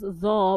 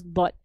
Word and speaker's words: ض: So don't accidentally pronounce Dha when you try to pronounce Dot. So some people say Walal Dha, Walal Dhalin are wrong. It's not a Dha, it's a Dot.